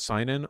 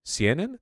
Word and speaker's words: seinen: What's seinen? Older audience. But I don't think it's like Berserk tier in terms of appealing to an older seinen. Seinen? That's how it's pronounced, not seinen.